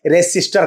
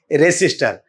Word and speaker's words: resistor: Actually में रजिस्टर होता नहीं है, रेसिस्टर कहा जाता है। ठीक है, सही उच्चारण होता है रेसिस्टर।